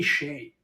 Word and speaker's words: Skjei: Dude, it's Brady Shea. Okay, for the record, I know who Brady Shea is. Wait, Brady that's how you Shea. say his name? Brady Shea is spelled SKJEI. KJ.